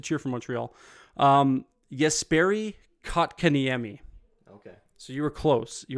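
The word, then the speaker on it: Jesperi Kotkaniemi: oh my God just Sperry Kokanee try it again just Sperry Coke can Amy you're close Okay the J is silent um former Montreal Canadian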